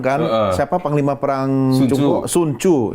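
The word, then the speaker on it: Sun Tzu: Suncu ya bacanya Suncu ya tulisannya Sunu. Sunzu.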